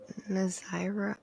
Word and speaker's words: Nazira: I was trying to figure out, is it Nazira? Nazira? Let me do this real quick for Miss Smith. Yeah, I don't know anything about that. Yes, that's how you say it.